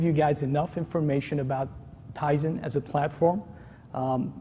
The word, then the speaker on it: Tizen: here okay so tyen this is always the biggest pronunciation is tyen is Eddie correctly pointed out and it's not um teon but it it is something that